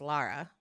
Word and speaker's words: Lara: No, I just have an issue with how you pronounce her name. It's Lara.